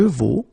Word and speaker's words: vaux: It's phonetically exactly the same thing, but keep in mind you will have to put x, x, t, t.